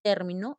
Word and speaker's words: término: tener mucho cuidado porque si dice término es esdrújula pero si ese término es grave y si digo término